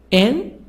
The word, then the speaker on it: engineer: Engineer. So here the stress here. Near. On the third part.